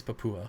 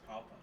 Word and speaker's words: Papua: I think it's Papa. Well, I think Gary Lang pronounces it Papua, and he's been there like 1,200 times, so I'm gonna go with that.